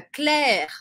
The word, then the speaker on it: Claire: o fato de que duas ou mais letras juntas em francês muitas vezes não têm um som diferente no caso aqui a gente vê o ie11 tos e vai tão som de é invés de eu falar as letras por Ah é Então fica Claire aqui olha só a palavra